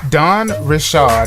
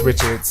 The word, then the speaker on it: Dawn Richard: So Dawn Richard is what I just learned how to say her name. Yes. Because I thought it was Richards.